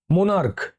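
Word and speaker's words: monarch: দেখো, মোনার্ক, মোনার্ক, দেখো লাস্টে সিএইচ আছে, উচ্চারণ করে দেখো, মোনার্ক, ময়কার দন্তনায়াকার কয়ের এফ, মোনার্ক।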